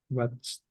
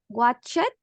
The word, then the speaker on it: watched: Remember, every verb that ends in ch, you pronounce at the end the t.